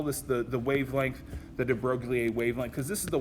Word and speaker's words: de Broglie: So de Broglie, or I suppose in French his name's actually pronounced de Broglie, which I find odd to pronounce that way.